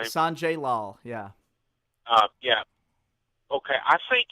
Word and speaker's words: Sanjay Lal: Is that how you pronounce his name? Sanjay Lal.